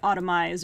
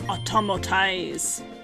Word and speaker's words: autotomize: How did I used to not read it properly and I would just say automize or something like that. But no, it's automotize.